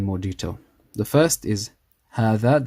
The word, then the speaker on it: هذا: The first is هذا, the alif is pronounced but not written.